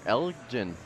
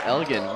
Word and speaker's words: Elgin: Oh, Elgin is leading 25-18, and that's a soft G. It is not pronounced Elgin.